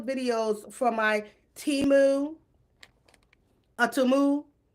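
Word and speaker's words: Temu: for my teu a tumu since we've been all saying it wrong is it tumu girl I say teu anyway I'm a teu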